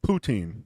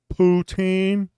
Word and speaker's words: poutine: just blasted it what was that Jenny said poutine that's what it is poutine that's that the fries and gravy and cheese it's it's what the Canadians oh yeah am I saying it right ptin yeah he's uh Austin's doing big in the